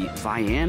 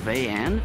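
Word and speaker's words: Vayanne: I believe it's pronounced the Vian or Vayan.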